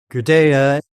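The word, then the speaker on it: Gudea: Is it King Guda or Gada? I'm probably saying it butchering the pronunciation. Yes. So Gaudea is certainly the most famous of the kings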